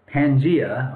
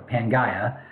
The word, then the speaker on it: Pangaea: So Wegener took the continents, he fit them together, and the way they fit looked like this: Pangaea, or Pangaea, depending on how you want to pronounce it.